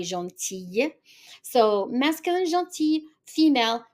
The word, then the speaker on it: gentille: So even the L, we pronounce it as a Y, gentille. So masculine, gentil, female, gentille.